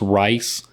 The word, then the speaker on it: Rhys: and john reese davies could be pronounced rice man we're gonna have to work on our pronunciation yeah um it's just spelled oddly r-h-y-s yeah it seems a